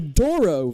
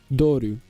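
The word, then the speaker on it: Douro: The Doro Valley of this country is a major global center for the production of fortified wines. I'm sorry pronounced I think it's Duru. Doru is how you actually pronounce it.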